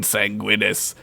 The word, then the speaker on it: Sanguinus: my name is Lord sanguinus pronounced with the Guinness y ladies allow me